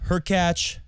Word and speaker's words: Hurkacz: Hurkacz, rhymes with latch, played really well and he deserved the win.